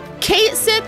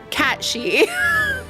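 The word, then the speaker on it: Cait Sith: Kate Sith is unanimously pronounced incorrectly. In real life, it would be like Cat She.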